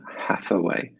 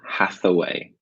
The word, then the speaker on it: Hathaway: and Anne Hathaway and Hathaway don't forget the H at the beginning of her name from sound and the th in the middle and Hathaway and Hathaway final question